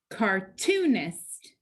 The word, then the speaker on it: cartoonist: there are three syllables cartoonist which syllable is accented cartoonist that second syllable so right before the suffix remember the accent is